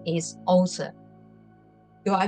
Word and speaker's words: Åsa: she is um in Sweden her name is OA do I pronounce it correctly yes it's all right yeah